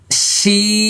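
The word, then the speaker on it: ش: এবার লক্ষ্য করুন, দেখেন দাঁত লাগে না। শিন, দাঁত লাগবে না, এরকম না। শিন আশ বাস, হ্যাঁ, এইভাবে আমরা উচ্চারণ করবো।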